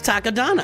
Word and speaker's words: Takodana: Who doesn't pronounce it Takodana? I don't know. It's Takodana.